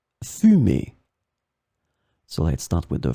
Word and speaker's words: fumer: In this lesson, we will see together two words that are written differently but pronounced the same way. Fumer, fumer.